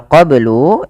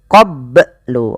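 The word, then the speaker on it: قبل: Kemudian melafal qoblu ini bnya harus dipantulkan karena ia ada bacaan qalqalah maka bacanya adalah minqoblu. Kesalahan yang terjadi dalam membaca qalqalah tidak memantulkannya. Contoh qoblu atau menambahkan hamzah qoblu. Qobblu ini menambahkan hamzah. Maka dalam membaca qalqalah tidak boleh ada dua itu.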